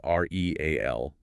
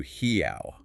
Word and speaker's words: real: The currency is spelled R-E-A-L, When you see that, you naturally read. Real. Or maybe you're all. Right. But the true sound is closer to hiao.